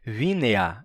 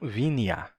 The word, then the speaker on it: vinea: Ele tá dizendo que é vínea, não vineia, tá?